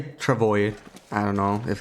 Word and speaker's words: Travois: Travois sounds more like a French pronunciation. Yeah, Travois, yeah. I just say Travois.